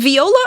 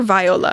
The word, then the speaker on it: Viola: off with Miss Viola is it Viola or Viola I think it's Viola like the instrument I mean that's how I've always said it and that's how my